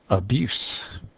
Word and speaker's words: abuse: ends in a z abuse as a noun it is abuse abuse still stress the second syllable but changes to an S Advocate Advocate that's a